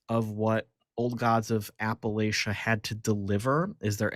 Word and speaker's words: Appalachia: It's pronounced Appalachia.